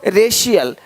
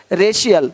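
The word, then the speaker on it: racial: अब देखो यदि सी के आगे आई ए हो तो सी का उच्चारण श होता है।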